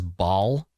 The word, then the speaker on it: Baal: Baal or Baal. Let me check the pronunciation guide. I think it might be the official one is Baal.